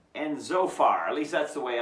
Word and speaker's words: Zophar: Okay, the friends, Eliphaz, Bildad, and Zophar. At least that's the way I pronounce them.